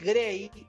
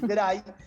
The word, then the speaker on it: Gray: Está Máximo Kirchner tratando de ingresar y Gray, que es Grey, se escribe Gray, digo, para mucha gente que dice cómo se pronuncia, pero dicen que como es algo americano se dice Grey.